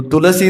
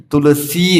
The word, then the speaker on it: तुलसी: दिया, वृंदायै तुलसी देव्यै, तो तुलसी नहीं है तुलसी है, सी लंबा है, जो दीर्घ है उसका दीर्घ उच्चारण करें, उसको शॉर्ट न करें।